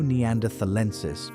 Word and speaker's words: neanderthalensis: Homo neanderthalensis, pronounced Neanderthal-ensis, was built stronger pound for pound than any human alive today.